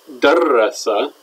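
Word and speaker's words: دَرَّسَ: In the past tense, it's darrasa.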